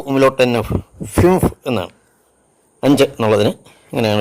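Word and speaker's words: fünf: അതുപോലെ യു ഉമലോട്ടിനെ എഫ് യു ഉമലോട്ട് എൻ എഫ് ഫിംഫ് എന്നാണ് അഞ്ച് എന്നുള്ളതിന് ഇങ്ങനെയാണ് ഉച്ചാരണം have studied the pronunciation of some letters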